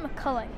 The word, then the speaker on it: McCulloch: my name properly cuz it should should have a soft H sound at the end and they put a